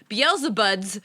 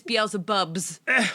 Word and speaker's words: Belzebubs: a better day because we've been calling this book beab buds for weeks we found out yesterday it is be bubs let's not beat ourselves